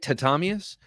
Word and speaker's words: Tatamius: Tatamius? Accent on the second syllable.